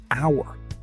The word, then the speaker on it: hour: An hour. The H is silent, so it sounds like a vowel.